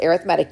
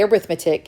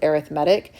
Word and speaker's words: arithmetic: And yes, it's pronounced arithmetic. You can say arithmetic if you want, but when we use it as an adjective, we pronounce it arithmetic.